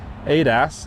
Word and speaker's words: ADAS: That is our assisted driver assistance system, ADAS, as it's usually pronounced.